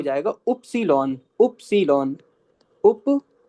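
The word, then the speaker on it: Ypsilon: इ्स इ्स और ये हो जाएगा उप्सीलॉन।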